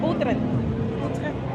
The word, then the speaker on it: Utrecht: ¿Pero cómo se dice? Utrecht. Ah, con la T al final.